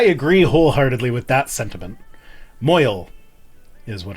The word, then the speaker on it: mohel: Moyel is what it's is how it's pronounced according to Balthazar.